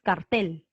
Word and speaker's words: cartel: en la cara o tú dices cartel con fuerza de voz en la tele en late el cierto cartel la fuerza de voz está en la última sílaba por eso esta palabra